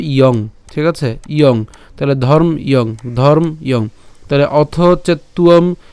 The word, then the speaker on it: ধর্ম্যং: তাহলে উচ্চারণটা কেমন হবে, ইয়ং, ঠিক আছে, ইয়ং। তাহলে ধর্ম ইয়ং, ধর্ম ইয়ং।